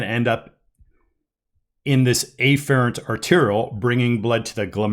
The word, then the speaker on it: afferent: Bringing blood into the glomerulus is the afferent arteriole, pronounced afferent, but this right here is the efferent arteriole. So I will very clearly distinguish the pronunciation, whether or not that pronunciation is correct, to clearly distinguish between which blood vessel I'm talking about.